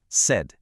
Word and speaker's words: CED: So let me introduce you to the world's center of excellence for destinations or said and that's pronounced said.